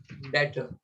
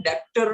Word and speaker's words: debtor: इसको हम डेप्टर नहीं बोलेंगे, हम उसको बोलेंगे डेटर। हम बी नहीं बोलने वाले हैं, DEBTOR, where B is silent। डेप्टर मत बोलना, इट इज डेटर। बी बोलना ही मत, डेटर, इट्स नॉट डेप्टर।